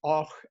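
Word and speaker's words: Avoch: Then Fortrose, Och, spelled Abok, but pronounced Och, and then down to Dingwall.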